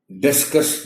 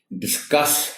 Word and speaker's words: discuss: लेकिन ये जो बहस करने के मानी के साथ लफ्ज होता है, इसका प्रोनाउंसिएशन डिस्कस नहीं है, डिस्कस है, सी पर स्ट्रेस के साथ।